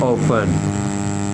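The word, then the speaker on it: often: देखिए ऑफन इसे दो तरीके से प्रोनाउंस किया जाता है। एक है ऑफन, टी को साइलेंट यूज कर लेते हैं, और सेकंड है ऑफ्टन। जो नॉन नेटिव्स हैं, जिनकी इंग्लिश लैंग्वेज नहीं है, जैसे कि अमेरिकन, वो इसे ऑफन प्रोनाउंस करते हैं।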